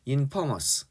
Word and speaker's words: infamous: 이게 n인데 infamous라고 발음하는 사람들이 있는데 이게 o입니다. infamous 이렇게 발음해요.